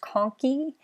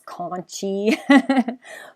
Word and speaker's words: conchae: is it's unfortunately the the pronunciation of this does not actually help with the spelling so uh to the inferior nasal conkey it's pronounced conky but i know that